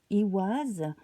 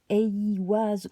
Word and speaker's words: Eiwaz: Et cela tombe extrêmement bien, je trouve, parce que votre rune du mois, c'est Iwaz, Eiwaz ou Iwaz, selon les prononciations.